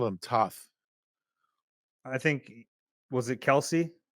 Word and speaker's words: Toth: Because somebody else called him Toth. I think was it Kelsey? Jason Kelsey? Yeah, it was Kelsey. Yeah. Yeah, interesting. He was only his teammate for 5 years. Yeah, Brett Toth.